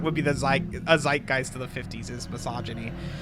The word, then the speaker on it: zeitgeist: to not only perfectly reflect the so-called um zeitgeist of the respective era. Let me look up what that means. Let me look up what that means. definition zeitgeist definition. Okay, so it is pronounced zeitgeist the defining spirit or mood of a particular